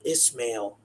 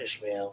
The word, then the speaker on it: Ismael: But we have a special guest today, Ismael Perez, and it's pronounced Ismael, not Ishmael. So in my intro, I kind of pronounced it a little off.